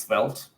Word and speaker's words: Svelte: I think it should be pronounced Svelte. Svelte.